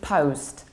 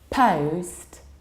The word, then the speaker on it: post: but very often so it is post in American English and slightly more open post and British version of accent let's take a look